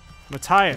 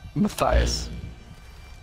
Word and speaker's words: Matthias: good job all right now who is this Mattias sighs its Matthias mercenaries - he was Mattias